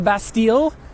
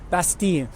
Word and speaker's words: Bastille: People still call it the Bastille. They pronounce the L. Obviously, that's wrong. I try to use the local pronunciation, Bastille.